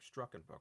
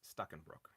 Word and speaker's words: Stuckenbrook: Stuckenbrook. I always think there's an extra R in there. Struckenbrook, but it's Stuckenbrook.